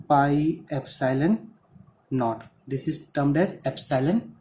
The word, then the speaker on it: epsilon naught: This is not E naught, it is epsilon naught. always try to pronounce it as epsilon naught only.